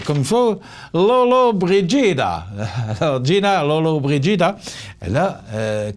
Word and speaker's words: Lollobrigida: C'est également l'anniversaire, vous allez sûrement vous en souvenir, moi je m'en souviens, Gina attendez, il faut que je le prononce comme il faut, Lollobrigida.